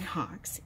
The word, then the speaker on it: Hawkes: in all fairness John Hawkes is the star of the movie and I always get his name wrong like I was in a coma on hawk but it's John Hawkes so but that I'll